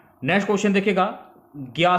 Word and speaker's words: ज्ञ: हुआ संयुक्त अक्षर है, परंतु आजकल हिंदी भाषा में इसका उच्चारण ज्ञा से किया जाता है। यानी कैसे? आधा गा और या ज्ञा से किया जाता है, ये आपको ध्यान में रखना है, ठीक है।